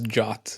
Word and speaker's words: JWT: it uh for those listening when he says jot he he means jwt's um which how you pronounce JWT um but I think people would